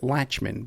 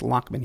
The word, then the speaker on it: Lachman: Some people might pronounce it Lachman, but it's Lachman he likes. And that's how they pronounce it in Jersey.